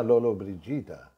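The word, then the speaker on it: Lollobrigida: তেমনি ইটালিয়ানেও একই ব্যাপার হয়, গয়ের জি এর পর ই দিলে জি উচ্চারণ হয়, আর যদি গ আওয়াজটা রাখতে হয় তাহলে ইউ দিতে হয় মাঝখানে। যেমন জিনা লোলো ব্রিজিদা, জি আই, মাঝখানে ইউ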